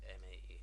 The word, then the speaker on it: ME: Which 9X includes 95, 98, and ME, or me, as I like to call it. Well, that's how it's stylized. That's how it should be pronounced.